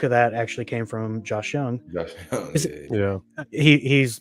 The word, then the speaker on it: Josh Jung: you want it's pronounced Josh Young like a mix between Josh Hamilton and Michael Young that that's what I